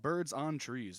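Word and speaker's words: Byrds on Trees: This one's called Birds on Trees, and it's spelled Byrds. The Birds is a band.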